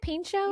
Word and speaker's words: Pinchot: Anyway, so once they said they had Bronson Pinchot, is that how you say it? Pinchot?